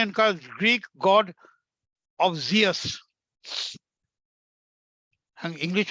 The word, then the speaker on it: Zeus: गॉड है वो द गॉड ऑफ जियस, called GS. English में स्पेलिंग है ZEUS, जियस, मेन गॉड।